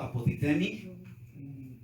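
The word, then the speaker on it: ἀποτίθημι: Entonces, despojar, si quiere usted apuntar, es el verbo griego apotithemi. O sea, apoti y luego T-H-E-M-I. Apotithemi. Es apotithemi, nomás póngale una H antes de la E.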